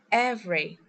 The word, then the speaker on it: every: As you can see we don't pronounce the vowels in these words.